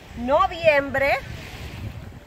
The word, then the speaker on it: noviembre: November, noviembre. This could be the difficulty, two vowels together.